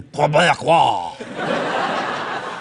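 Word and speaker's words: Québécois: There's a few simple tricks that we can perform to make sure that we really have a genuine Quebecois. That's how you pronounce it.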